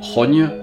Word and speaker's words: XOGN: de 10g quasi imprononçable ça s'écrit x ogm mais ça se prononce rogne c'est un nom qui